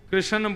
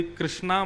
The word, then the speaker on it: कृष्ण: बंधुओं कई लोग इस नाम को अशुद्ध बोलते हैं, कई लोग कृष्ण बोलते हैं, कई लोग कृष्ण बोलते हैं, कोई कृष्णा बोलता है। भगवान का नाम शुद्ध उच्चारण करो।